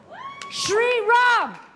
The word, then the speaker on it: Sriram: WHERE IS SHE AND ANNAPURNA SRIRAM HOW DO YOU SAY YOUR LAST NAME? SHRIRAM.